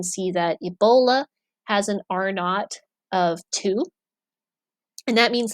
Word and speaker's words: R naught: are not which is r with a little subscript zero that's how it's pronounced as R naught is a it's a